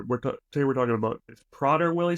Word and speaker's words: Prader-Willi: today we're talking about PR Wily syndrome that's how we pronounce it prer Willie yeah so